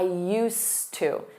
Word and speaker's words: used to: Notice that pronunciation. I used to.